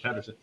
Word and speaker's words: Pederson: Actually, I always want to say Peterson, but I know it's Pederson.